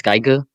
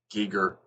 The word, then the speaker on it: Giger: It's not pronounced as Geiger. Giger. it's Oh. Geeker. Yeah, HR Giger.